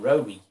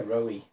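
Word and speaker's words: Roewe: but they called them Rowie. Apparently Rowie is how you'd say Rover with a Chinese pronunciation, so I don't know if that's true or not.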